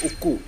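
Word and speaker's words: ಉಕ್ಕು: Actual pronunciation है उक्कू. Europeans ने boots बना दिया.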